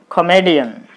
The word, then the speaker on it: comedian: There are four syllables again. Co, me, D-N. This is the first one, D, D-I-D. Second one, M-E, me, this is the third syllable. So you put the stress mark on me, then it will be comedian.